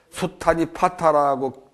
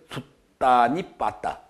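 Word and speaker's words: 숫타니파타: 숫단이 파타라고 되게 돼 있는데 정확하게 발음하면 숫단이 빠따. 숫단이 빠따 그렇게 읽어야지. 뭐 법정 스님이 번역한 걸 비롯해서 전여성 박사도 번역하고 좋은 번역본들이 많이 나와 있으니까.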